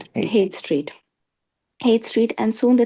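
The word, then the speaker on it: Haight: How do you pronounce it? 8 Street. Hate street.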